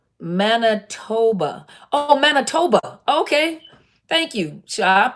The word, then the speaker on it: Manitoba: you guys hola we keep you guys up mana Manitoba Oh Manitoba okay thank you job pronounce it the way to look nice said